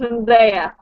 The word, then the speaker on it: Zendaya: It's pronounced Zendaya.